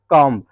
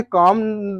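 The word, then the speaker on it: comb: क्या लिखा है कम तो इसे कम नहीं पढ़ा जाता है इसको पढ़ा जाता है खून क्या पड़ता है कॉम है ना क्या पाया जाता है कॉम इसमें बी साइलेंट हो जाता है क्या साइलेंट हो जाता है ये वाला बी साइलेंट होता है तो कॉम मतलब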